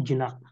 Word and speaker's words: Jina: His followers started to call him जिना। जो महावीर को जब कैवल्य की प्राप्ति हुई तो उनके जो फॉलोअर्स थे वो उनको जिना बोलते हैं। स्पेलिंग देख लो आप, JINA, जिना। इसको जिना बोलते हैं, विच मीन्स द अल्टीमेट कंकर ऑफ द नॉलेज।